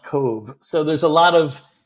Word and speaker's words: Cobh: And that town is pronounced Cove. Cove, B-H. BH is the Gaelic, and it's pronounced Cove.